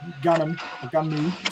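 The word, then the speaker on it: Gunnm: He says that Alita Battle Angel, or Gunmu, sorry, to say it properly in Nippon, is a reflection of what's going on in his head.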